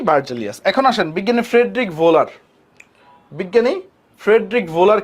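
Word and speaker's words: Wöhler: না হ্যাঁ আসো বিজ্ঞানী ফ্রেডরিক ভোলার বলো আর উহুলার বলো যাই বলো না কেন উচ্চারণটা হচ্ছে ভোলার হ্যাঁ উচ্চারণটা কি বিজ্ঞানীর নামের উচ্চারণটা হচ্ছে ফ্রেডরিক ভোলার এখন ফ্রেডরিক ভোলার কি করছিল সে হচ্ছে লেড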